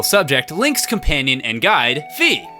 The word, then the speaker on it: Fi: links companion and guide fee isn't it pronounced fie shut up young town